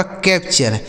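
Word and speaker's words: capture: तो सी ए पी से दोस्तों हो गया कैप और टी यू आर ई का उच्चारण चर हो गया। यह लिखा गया आपका कैप्चर।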